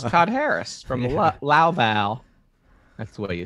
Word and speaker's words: Louisville: i'm saying it wrong it's not louisville it's like it's like hello val okay i have a